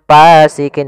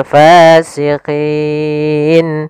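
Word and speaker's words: فاسقين: alif panjangnya dua harakat hati-hati dalam melafalkan Fa harus ada nafas yang dikeluarkan karena dia sifatnya sus jaryanun nafas jangan pasikin dengan P gitu ya banyak yang mungkin ada yang membacanya dengan pa gitu ya dengan p Nah harusnya tidak dibaca dengan p kemudian padafal fasikin pada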